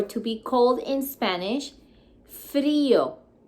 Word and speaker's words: frío: Cold, or to be cold in Spanish, frío, with accent on the I. Frío. You don't say frío, you say frío.